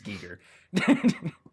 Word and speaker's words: Giger: phonetic alphabet that Wikipedia uses for all their pronunciation shit. And I don't remember how to read it anymore, but it's Giger.